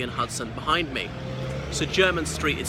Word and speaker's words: Jermyn Street: Hudson behind me so German Street is spelt je are my n but pronounced German as in somebody from Germany so I'll show you